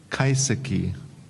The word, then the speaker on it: kaiseki: Okay, your word is, that's okay, kaiseki. Kaiseki? Yes. Alternative pronunciations? No alternative pronunciations. Okay. Country of origin? This word is from Japanese. Kaiseki? Kaiseki.